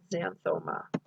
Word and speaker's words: xanthoma: that z or that x sounds like z often so here we have zygomatic that's part of the cheek um and so you would pronounce this xanthoma okay xanthe means fatty